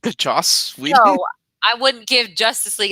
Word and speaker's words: Joss: are you drinking two jack he means the joss whedon he means the josh joss i wouldn't give justice league a 10 out